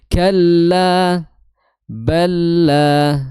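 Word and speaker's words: كلا بل: kamil bila gunah karena lam sukun bertemu lam berharakat maka di situ ditandai dengan tasydid yakho kho itu makhrajnya di tenggorokan bagian atas ko disertai sedikit suara ngorok ko ya.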